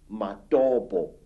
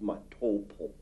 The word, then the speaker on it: Matobo: And one of these parts of Africa, say, is a remarkable place called the Mountains of the Round Rocks, Matobo, wrongly pronounced Matopo in Zimbabwe.